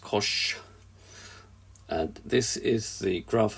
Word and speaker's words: cosh: So at the moment, we've got the hyperbolic cosine function, pronounced cosh.